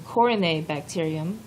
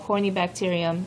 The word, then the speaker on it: corynebacterium: I'll say that word again, corynebacterium. There are different pronunciations. That's the one I like. Some people call it corynebacterium. It just kind of depends on what you like.